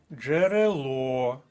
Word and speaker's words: джерело: колонка другий склад Коваль джерело третій склад джерело остан склад третя